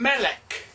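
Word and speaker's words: מלך: Okay, this is our good old friend Melech, a king. Melech, Mem Segol, Lamed Segol, final cough with the, oh heck, I can't remember what that is. Anyway, Melech, king.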